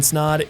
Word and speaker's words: Snod: My name is Snod. It Rhymes with Odd, and you're listening and